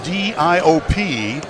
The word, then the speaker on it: Diop: Spells his last name D-I-O-P. He's 6'10", pronounces it Diop, from Senegal.